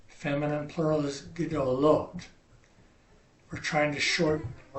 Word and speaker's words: gedolot: We're going to try and keep it as close to 2 syllables as we can. Feminine singular is gedolah. Masculine plural is gedolim. Feminine plural is gedolot.